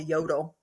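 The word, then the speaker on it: Jøtul: So I go and I'm like, "Hey, do you have it's called a yodel, but it's spelled with a J.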